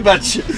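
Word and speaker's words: Baigts: B-A-I-G-T-S, donc tous les Parisiens disent Bec de Béarn, mais c'est Batch.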